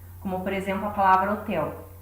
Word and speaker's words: hotel: por exemplo a palavra hotel. Você tem o H na frente, mas na hora de pronunciá-la, nós emitimos apenas a letra O. Então o H não tem som.